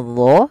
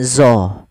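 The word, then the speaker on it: ظ: Nah, hati-hati dalam pelafalan dho, jangan dibaca dengan zo. Jangan dibaca dengan zo. Karena dia bukan zo. Kalau zo nanti makhrajnya salah.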